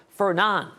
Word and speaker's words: Fernand: Next storm on deck be our sixth name storm, Fernan. D is silent.